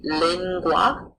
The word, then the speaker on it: lingua: GU makes a gr sound like a penguin. An example of this in Latin would be lingua.